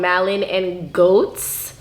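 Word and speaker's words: Malin+Goetz: It's from a company, I think how you pronounce it is called Malin and Goats. That's how I pronounce it.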